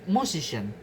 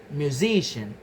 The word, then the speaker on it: musician: In the word musician the best stress in music. But in the derived stress the stress change to musician.